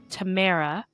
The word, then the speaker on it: Tamara: I was researching memoirs because I love to read memoirs, and I came across Tamara.